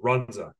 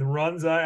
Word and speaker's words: Runza: food franchise that is only in Nebraska called Runza never heard of it they have the 100